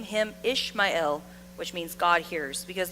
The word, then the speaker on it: Ishmael: We say Ishmael, but it's actually pronounced Ishmael because the L part in Ishmael means God, the Lord. It means the Lord. So the name Ishmael uses the divine name El, which means God hears.